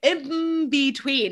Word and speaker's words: in between: from the b so we say in between it turns into an m and that causes confusion